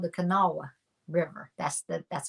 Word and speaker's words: Kanawha: Kanawha River anybody is always trying to say kanawa they're trying to say kanawa glass it's called the Kanawha River that's the that's how you pronounce it